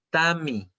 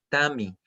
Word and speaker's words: Tami: Pero son muy distintos. No es lo mismo Tañi que Tami, ¿ya?